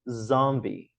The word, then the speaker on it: zombie: coisinhas aqui então Ó em inglês é Zombie Zombie Então veja que em português é zumbi segunda sílaba mais forte aqui não é Zombie A primeira é mais forte em vez disso é um som de Zombie Zombie Ok e a próxima